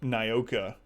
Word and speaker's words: Nyoka: name is spelled the same way and we pronounce it Nyoka and she goes by no key for short